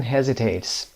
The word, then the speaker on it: hesitate: Who often hesitates? Hesitate تلفظ رو دقت داشته باشید. Hesitate اس نخونیم.